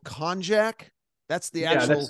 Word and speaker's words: konjac: Now, the actual substance, and correct me if I pronounce this incorrectly, is called konjac.